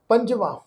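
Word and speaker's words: ਪੰਜਵਾਂ: लल्ले नूं कन्ना महला पंजवा। ये जिहड़ा गिनतीवाचक पंज अंक है इसका उच्चारण करांगे जी पंजवा।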